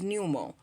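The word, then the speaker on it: pneumo: if you notice that everything pertaining into the lungs is numo numo p Neu m o numo so pay attention to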